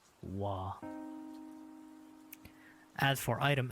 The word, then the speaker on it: は: This is pronounced wa.